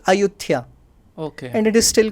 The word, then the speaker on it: Ayutthaya: The local pronunciation is Ayutthaya.